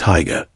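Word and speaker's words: Haigha: His name is Higa. He pronounced it so as to rhyme with mayor.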